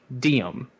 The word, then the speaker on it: Deum: There's a word for it where it sounds like diem, like carpe diem. And I wanted a cool spelling for it, so I did Deum.